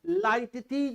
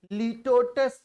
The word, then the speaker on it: litotes: And then लाइटटीज इसको बोलते हैं, लिटोटस नहीं बोलते. लाइटटीज ये प्रोनाउंसिएशन में लिखा है लाइटोटीज with the stress on first syllable is a type of